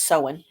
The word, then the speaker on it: Samhain: Samhain, though the vast majority of witches mispronounce it. It's spelled Samhain or Samhain or whatever, but it's Samhain.